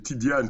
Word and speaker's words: Tidjane: ivoirien ou le franquement c'est tidian tu prononces comme comme si c'était un D y merci de me corriger